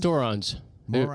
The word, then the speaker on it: Dorans: Dorans. Rhymes with morons.